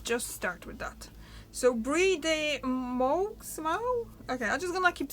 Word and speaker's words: Brie de Meaux: And Brie de Meaux. That's how you pronounce it. Okay, Brie de Meaux.